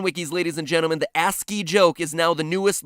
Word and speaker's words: ASCII: turned out to be ASC III codes for different letters of the alphabet for those of you who don't know ASC III codes or ASCII codes as it's properly pronounced the cringe is so